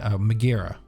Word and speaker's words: Megara: And now Twitter's all up in thing about her playing Megara, right?